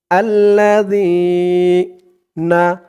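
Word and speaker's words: الذين: জিহ্বার মাথা উপরের দাঁতের মাথার সাথে লাগবে জালের উচ্চারণটা করার সময় আল্লাজি না আল্লাজিনা ইয়াবে ইয়া দিয়ে বা ধরবে এই বা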